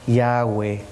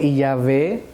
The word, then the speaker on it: Yahweh: que la pronunciación sea Yahweh. ¿Por qué la diferencia de Yahweh yahé? Porque los judíos sefardíes que se radicaron en España pronunciaban la W como V. Así que algunos dicen Yahé o Yahweeh.